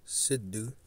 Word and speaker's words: Sidhu: So, with that being said, let's look up some of this stuff on this guy, Sidhu, as they pronounce it, Sidhu, right?